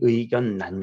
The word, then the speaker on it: 의견란: 근데 가끔 보면은 자 이렇게 결합했는데 리을리을로 안 발음하고 니은니은으로 발음하는 경우가 있대. 여기 의견난 같은 경우.